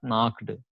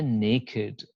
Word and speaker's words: naked: is a depressed naked okay it must be pronounced naked it's not it's not the way you pronounce it's not it's not knocked okay it is a naked naked adjective this is an adjective not covered